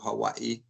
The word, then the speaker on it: Hawaii: So in 2012, we had gone to Hawaii. That's how the locals say it.